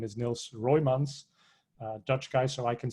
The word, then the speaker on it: Niels Roymans: His name is Niels Roymans, Dutch guy, so I can say his name correctly. It's kind of complicated to pronounce in English.